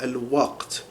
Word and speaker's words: al-waqt: So al-waqt, al-waqt. So that would be transliterated here. Al-waqt. Okay. Now, because in the Egyptian dialect, qaf becomes an epiglottal stop, they would say al-wat. Instead of waqt, it's what.